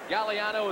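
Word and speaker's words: Gagliano: look at Bob gallano the GS silent gallano is the way it's pronounced and he starts at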